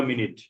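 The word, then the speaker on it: منٹ: खाना आने में कितने देर लगेगी খাবার আসতে কত সময় লাগবে প্রায় 15 মিনিট तकरीबन 15 মিনিট 15 মিনিট। तकरीबन মিনাট। হ্যাঁ, উর্দুতে মিনিট উচ্চারণ এরকম, মিনাট।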